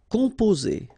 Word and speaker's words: composer: Composer. Okay, O and M together, after that a consonant, so it's the nasal on. Composer.